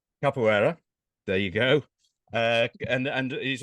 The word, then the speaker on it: Capoeira: Now I've got to try and pronounce this right. Caipoerista, Capoeira. Capoeira.